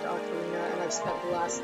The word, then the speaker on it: Ocarina: If you remember from Ocarina, which I'm pretty sure it's actually pronounced Ocarina, and I've spent the last 2 decades saying it wrong.